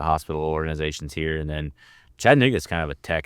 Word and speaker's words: Chattanooga: Chattanooga.